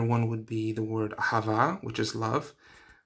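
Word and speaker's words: אהבה: Ahava has that H in there, you hear the he. So if people are speaking quickly, they might say ahava, where the H is sort of swallowed, it's not pronounced.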